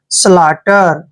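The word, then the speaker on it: slaughter: है ठीक है ना क्योंकि टी से पहले यू जीी एच साइलेंट है और टी को हम क्या पढ़ेंगे ट और ई आर को क्या पढ़ेंगे र स्लाटर क्या कहते हैं इसको स्लटर सो स्लटर होता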